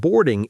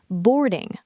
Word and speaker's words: boarding: And boarding is when people start getting on the plane. Pronunciation tip. Boarding, boarding, not boarding. Clear or sound.